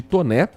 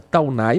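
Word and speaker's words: Taunay: O fechamento ocorre no trecho entre a visconde de Toné ou se preferir a pronúncia Taunai, mas é o correto é Visconde de Toné com a prefeito Passos.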